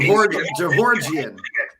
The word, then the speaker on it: Jahorjian: Jahorjian. I'm just saying what his dad told me how to say it.